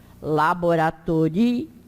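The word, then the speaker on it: laboratorio: As palavras são todas paroxítonas, ou seja, a sílaba tônica é sempre a penúltima. Então, em laboratório, como eu disse, o I está numa sílaba e o outro está no outro. Então, laboratório, mecânico.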